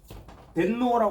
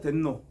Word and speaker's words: 덴노: 있던 누구 천 천왕 천왕은 뭐 일본 발음하면 뭐라 그래요 덴노 하죠 덴노 일본식 덴노 아고 합니다